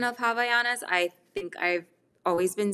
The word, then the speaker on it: Havaianas: with hawaiianas um so this is the proper pronunciation of havayanas i think i've always been saying havianas and i feel like a lot of us